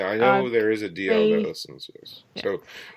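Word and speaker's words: Dalziel: I know I said his name wrong. So sorry, Ryan. I don't know if he listens. It's the I see him on Twitter all over the place. Well, no, it's his brother. It's Ryan DL.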